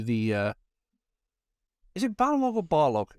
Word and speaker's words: Barlog: I always do that. Corey Barlog. I wish it was Balrog. Barlog. I don't want it to be. I can't get past it. That's why I always get his name wrong.